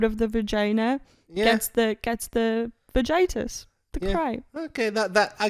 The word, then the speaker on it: vagitus: Word number 2 is vagitus. Vagitus. Vagitus. Do you need me to spell it out for you? Please. VAGITUS. Vagitus. Okay. Sounds like... Vagina. Yes.